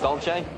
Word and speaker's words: Dolce: Dolce, you said it right.